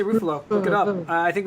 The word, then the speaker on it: Ruffalo: It's pronounced Ruffalo.